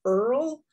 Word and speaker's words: URL: is spelled url uh some people do say it earl um but it's i think it is more properly always pronounced as a url that's your web address